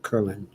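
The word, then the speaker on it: Köln: an umlaut ln yes it's pronounced curling and steve says good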